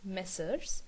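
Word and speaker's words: Messrs.: this uh particular thing m slash s is pronounced as messers message means it is sort of a plural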